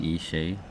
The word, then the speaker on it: Ishay: Ben Ishay, Niv Ben Ishay, and I remember that I asked how it's pronounced. Yes. And you said "sh" like a shark.